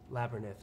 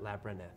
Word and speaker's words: Labyrinth: Elizabeth Joan Chestnut says it's pronounced, oh, thank you, Labyrinth, not Labyrinth. Thank you. I'm from Long Island, Elizabeth. I got to put those syllables.